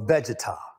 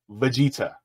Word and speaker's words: Vegeta: versus one Goku or vegetar from drag hold up V Vega Vegeta Stephen St Stephen bro at least learn how to pronounce the name it's Veta oh my gosh I'm